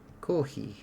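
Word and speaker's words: コーヒー: Kohi. So coffee is a Japanese pronunciation for coffee.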